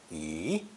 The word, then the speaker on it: 一: The number for 1, yi, is pronounced second tone, yi, in front of it, just as if ge was still a fourth tone.